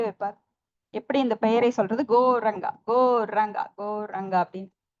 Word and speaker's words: கௌரங்கா: உச்சரிக்க வேண்டும் கௌரங்கா கோரன் இப்போ பாரினஸ்கல்லாம் எப்படி சொல்லுவார்னா கௌரங்கா அவங்களுக்கு சொல்ல தெரியாது அப்ப கோ அப்படின்னா போ ரன் அப்படின்னா ஓடுறது அத இங்கிலீஷ்ல வந்து கோரன் கோரங்கா கோரங்கா கோரங்க அப்படின்னு சொல்லி அவர அவங்களுக்கு